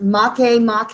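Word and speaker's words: Makemake: talked about pluto there's also aeris that is pronounced mache mache it is hawaiian and the other one is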